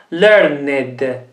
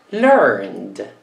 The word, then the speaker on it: learned: Learned. Learned. Learned. Con una D. Learned. Sempre con una D, perché il verbo finisce con un suono dolce, una N.